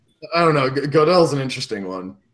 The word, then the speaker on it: Gödel: Gödel's an interesting one.